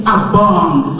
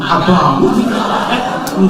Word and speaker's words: Abong: My name is Abong, like Bong, Abong.